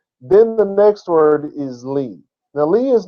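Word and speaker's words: לי: with stuff like this because Lee is not literally a word it's the LED and the yo that have been put together and so you pronounce it Lee but the lamed is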